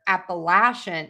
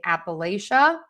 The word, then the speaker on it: Appalachia: I also hear Appalachian. Appalachin. Um, so again, I hate to say one is correct, one isn't. There's variations regionally in the US. So, you can say Appalachia or Appalachia.